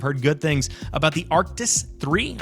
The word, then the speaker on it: Arctis: This one's $40, and I've heard good things about the Arctis 3. I believe that's what that is actually pronounced. I always called it the Arctic 3, but that's probably my mistake.